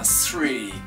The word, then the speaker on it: three: two three attention three le son th se prononce en mettant le bout de la langue sous les deux dents de devant ça fait donc TH et non pas fre ou bien three c'est bien le son